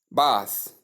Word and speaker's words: bath: Especially when they want to pronounce bath, they call it bathe. It's wrong. Bath pronounced as b is wrong.